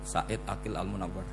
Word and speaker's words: Said Aqil Al-Munawwar: Memang bacanya harus urut Said Aqil Al-Munawwar. Karena sekali salah Said Aqil Sirat.